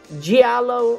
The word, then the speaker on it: giallo: When it comes to Italian giallo, I'm trying to really get the pronunciation right on that one. Giallo. It sounds like jello.